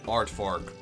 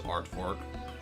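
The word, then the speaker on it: aardvark: it's a Dutch word it's not native English so you would guys would read it as an English word but it is not an English word it is a Dutch word like art Fark like uh the animal the art Fark and then I think you pronounce it as art Fork it's like okay I understand what you mean but that's not how you pronounce it you know those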